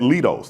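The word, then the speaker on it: Leidos: So sitting beside me is Ernest Sanchez who manages the cargo mission contract at Lidos. Did I pronounce that correctly? Lidos. Lidos. Lidos.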